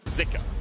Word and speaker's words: Zika: and it was pronounced zuka on the LPL English broadcast but we have seen some people saying that in Chinese it's actually pronounced more with an i zika so I think for